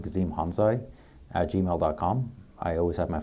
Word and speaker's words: Hamzaj: Well, Gezim Hamzaj, did I say it right? Hamzaj.